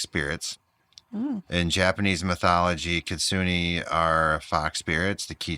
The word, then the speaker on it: kitsune: I know you probably want to put a picture in there, but k i t s u n e kitsune. Oh, okay. Um Japanese shape-shifting fox spirits. Mhm. In Japanese mythology, kitsune are fox spirits.